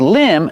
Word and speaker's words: limb: Remember with limb the B at the end is silent.